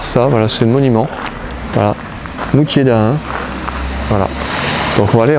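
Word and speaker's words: Moutier-d'Ahun: Bon bah voilà les passionnés, on est arrêté devant l'abbaye de Moutier d'Ain, voilà, donc un D'_AHUN, voilà, ça s'écrit comme ça.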